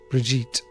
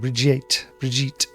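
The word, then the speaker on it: Bríd: Brid. Famous Irish saint is pronounced with a long E. Brigitte. Almost like a J sound. Brigitte.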